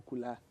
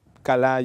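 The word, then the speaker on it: כלה: He escuchado unos que la pronuncian como kula. Pues, kala, yo lo digo porque veo una A ahí.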